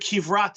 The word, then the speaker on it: Kivrat: What does the word Kivrat mean? Kivrat, they're spelled Kaf, Beis, Resh, Taf, not the Kever. It sounds the same, but spelled with a Kaf.